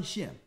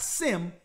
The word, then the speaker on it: Shem: of of the sun shim it's not sim it's shim right so now let's go